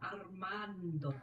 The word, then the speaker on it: Armando: You gotta roll your R's a little bit more. Armando.